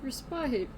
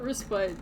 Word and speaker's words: respite: I need respite. You will get respite. Don't worry. Or respit as he says, which is not correct. Not correct at all.